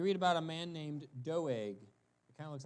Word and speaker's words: Doeg: good guy so uh I looked up the Hebrew how do they pronounce it and he said doeg like that doeg so there you go